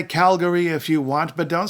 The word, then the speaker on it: Calgary: in BAFF National Park Alberta's biggest city is Calgary you can say Calgary if you want but don't say Calgary its Calgary and Calgary was named after a